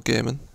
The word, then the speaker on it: Gehrman: So as we can see, this is what happens when you refuse to kill, or to let Gurnham kill you, or Gehrman, I mispronounced his name.